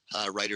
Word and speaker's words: Reiter: Writer is spelled Reiter.